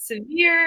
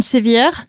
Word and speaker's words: Sevier: I was like, is it severe? Is it severe? Is it, Everyone wants to make it French, especially in Louisiana. It's Madame Sevier.